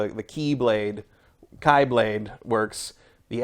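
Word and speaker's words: χ: Not the Keyblade with the Greek letter key, which is actually pronounced Kai.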